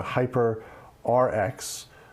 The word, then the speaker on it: HYPR-RX: They're also adding new features for gamers, including the Hyper RX, which is spelled HYPR-RX. I guess that's one way to spell it.